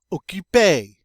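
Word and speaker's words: occupé: adjective in the masculine and in the feminine okipe sounds the same but it's spelled differently in the feminine it gets an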